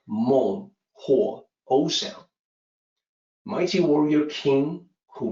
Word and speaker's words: Menghuo: slide mold so again the weakness of the pinyin system makes this difficult to pronounce correctly it's like mole Oh Sam mighty warrior king